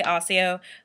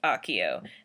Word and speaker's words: Accio: I say Osseo, but in the movies it's Accio, and since J.K. Rowling approved that, it's Accio.